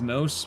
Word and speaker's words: mousse: I think it's pronounced moose. Moose?